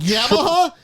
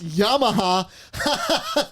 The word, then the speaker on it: Yamaha: Yamaha? It's Yamaha. You pronounced that wrong, you dummy.